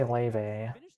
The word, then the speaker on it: Laevateinn: Um it's actually Laevateinn. He pronounced it wrong.